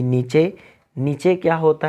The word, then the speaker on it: niche: नीचे का स्पेलिंग होते हैं NICHE, नीचे।